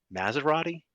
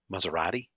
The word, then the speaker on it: Maserati: let you know Tom it is Tony Maserati not Tony Maserati he's not a car